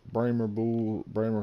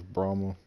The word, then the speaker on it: Brahma: I know the actual name for it is Brahma. Since I was a youngin', my family's always pronounced it Bremer, so that's what I'm just gonna say is Bremer.